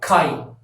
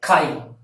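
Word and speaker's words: கை: the other programs like ka I Chi and you have to pronounce like Kylie so this Chi represents hand in tunnel and by the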